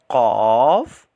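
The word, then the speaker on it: ق: letters are very important uh they are uh cough and calf cough and calf so cough is a heavy letter and it is pronounced with a full mouth while calf is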